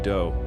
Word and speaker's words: Do: this guy Marshall Appawite, but his friends called him Do, which rhymes with Joe.